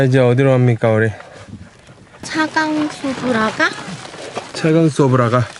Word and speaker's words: Цагаан Суврага: 차강소브라가? 차강소브라가. 원어민 발음으로 차강소브라. 자간소브라카. 어. 자간소브라카. 차강소브라카. 차강소브라카. 차 아니고요. 차. 차.